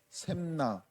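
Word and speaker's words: 셉나: 셈나. 발음을 잘해야 되는데 셈나예요.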